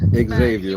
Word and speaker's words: Xavier: Xavier, like it's spelled.